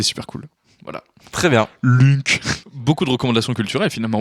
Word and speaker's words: Lunk: Oui, Lunk. qui est ça se prononce Link du coup aussi.